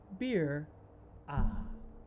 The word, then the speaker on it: mbira: of zimbabwe uh and it's spelled m-b-i-r-a uh one mnemonic is um beer ah if that helps you remember it uh